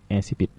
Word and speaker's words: incipit: On écrit incipit. Mais ça se prononce incipit.